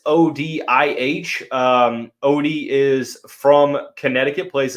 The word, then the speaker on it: Odih: Moving on to the next one is Kelvin, I believe it's Odih is how it's pronounced. It's Odih.